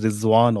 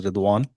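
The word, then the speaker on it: رضوان: Sometimes we call in Udu or in in Afanistan we sometimes call as Rizwan also but the real pronunciation is Rwan who is angel of uh one of the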